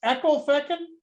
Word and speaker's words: Ecclefechan: but not initially that's funny so again it's pronounced Echo Fen that's right that's right and it's one of